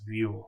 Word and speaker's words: Vue: name as view, that's Vue is pronounced as view, like a front view, back view, top view.